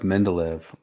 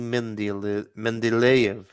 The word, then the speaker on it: Mendeleev: No, that's Mendeleev.